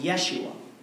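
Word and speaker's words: ישוע: or deliver or save in Hebrew it's pronounced Yeshua in which we get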